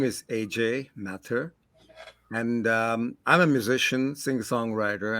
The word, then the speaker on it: Mathur: Mathur.